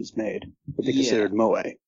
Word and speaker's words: moe: them are like straight Mo shows but a couple of others to pronounce it correctly and not to pronounce it like it's the barman in The Simpsons is uh kind of